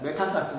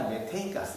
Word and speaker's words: 메테인: 좀 정확히 바뀌어 가지고 이거는 부탄가스가 아니라 뷰테인 가스 메탄가스가 아니라 메테인가스 그런다 이렇게까지 외우게 되면 우리